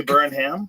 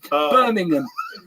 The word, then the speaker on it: Birmingham: say snooker we say snucker we can't even pronounce a sport that we don't even yeah I mean it's a we burnam catastro catastrophe the way you how we burnam burning oh no burningham Birmingham Birmingham Birmingham Birmingham that's right listen this guy